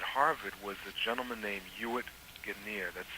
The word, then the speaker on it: Ewart: Um, the When I was in college, the head of Afro-American Studies at Harvard was a gentleman named Ewart Guinier. That's spelled E-W-A-R-T, and if the last name sounds familiar, that's because it's Lana Guinier's father.